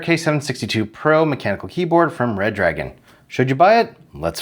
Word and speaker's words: Redragon: Pronounced Redragon, but spelled Redragon, this Shenzhen, China-based company